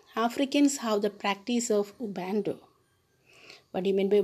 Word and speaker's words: Ubuntu: Africans have something called Ubuntu. Ubuntu. Have you seen the word, children? U-B-U-N-T-U. Ubuntu. That's the correct pronunciation.